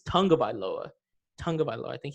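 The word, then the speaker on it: Tagovailoa: saying it wrong it's tagged by lower I mean I've been saying tagged by lower it's Tunga by lower Tunga by law I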